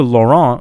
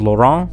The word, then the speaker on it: Laurent: of the virus now when it comes to Laurent right like I know that I did say his name wrong in my last video I was keep